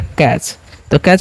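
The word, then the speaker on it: catch: C-A-T-C-H लिखा जाता है। हम C का उच्चारण कैसे करते हैं? 'k' की तरह, और 'a' का उच्चारण 'ae' की तरह होता है। और जब भी T-C-H एक साथ हों, तो इसे 'च' की तरह उच्चारित करें। तो यह 'कैच' बन जाता है।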